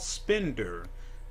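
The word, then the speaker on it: Spendr: a cannabis rewards program it's called spender and that's spelled a little bit differently you think if you look it up it's s p e n d r so there's no e at the end and the company will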